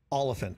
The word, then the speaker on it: Olyphant: So it's... Olyphant. Olyphant. Like elephant, but Olyphant.